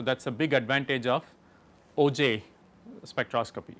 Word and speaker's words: Auger: There's also a technique called OJ electron spectroscopy.